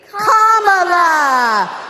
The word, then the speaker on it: Kamala: Kamala. All right, so let's practice. Everybody over here say comma. Everybody over here say la.